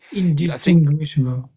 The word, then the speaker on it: indistinguishable: Ah yeah, I think the one before that you had it pretty much spot on. Your very last one is you you bit too much too heavy on the able on the end.